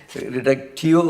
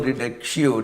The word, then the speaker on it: reductio: It is called reductio or reductio, depending upon how you pronounce it.